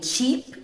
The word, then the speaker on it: cheap: E em cheap tem som de I.